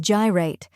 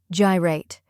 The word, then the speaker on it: Gyrate: the correct pronunciation is gyate let's break it down first we have ji which rhymes with pi or Sky next is rate which